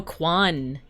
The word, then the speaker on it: KJ1: KJ1 is pronounced... Oh, Kwan. They added the J to look fancy.